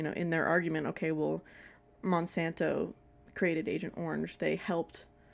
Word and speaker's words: Monsanto: And Monosanto, is that how you say it? Monsanto. I definitely said it wrong earlier.